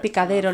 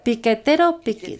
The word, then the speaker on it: piquetero: un un momento que se llamaba picadero lo estoy lo estoy pronunciando correctamente adilia picadero el movimiento picadero lo estoy diciendo bien lo estoy diciendo bien en Argentina piquetero piquetero el movimiento piquetero estuve con ellos durante